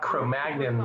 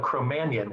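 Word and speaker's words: Cro-Magnon: Steve called him a cromanion and I thought cro-Magn was the way to pronounce that and I remember him telling me no cromanion is the proper pronunciation random I didn't do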